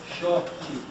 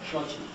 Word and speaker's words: Xochitl: They all pronounce it differently. Xochitl, Chochi, Xochitl, but now it is Xochitl. Xochitl.